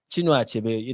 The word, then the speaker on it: Chinua Achebe: Let me pronounce his name well. Chinua Achebe, one of the notable writers, and even Wole Soyinka.